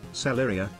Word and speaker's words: Celeria: how to pronounce it it's pretty much like TTS says it celeria celeria celeria thanks for all the